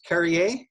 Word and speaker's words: Carriere: looking sharp uh your last name is pronounced carrier perfect carrier yes wonderful carrey